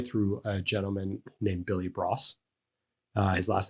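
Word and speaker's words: Broas: learned um primarily through a gentleman named billy bros uh his last name is spelled b-r-o-a-s and um he had a bunch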